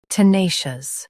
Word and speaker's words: tenacious: Tenacious. Both US and UK have the same pronunciation of this word. Stress nay. Keep shus soft and clear.